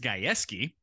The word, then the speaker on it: Gajewski: know, we see on Twitter, who's this Kenny Gajewski guy that is now the new softball coach? And then come to find out it's pronounced completely differently. It's Gajewski.